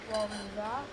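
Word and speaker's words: Łomża: Lomza.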